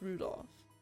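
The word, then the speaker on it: Rudolf: it can you anyway this guy's name is pronounced Rudolph he must hate grandfather for giving him that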